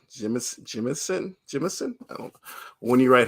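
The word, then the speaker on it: Jemisin: I've been saying her last name wrong. Jimison.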